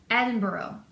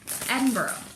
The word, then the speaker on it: Edinburgh: and bro and sorry how do you say it and edinboro i think because people were correcting